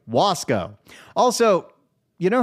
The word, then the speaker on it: Wasco: And hey, he pronounced it correctly. Wasow.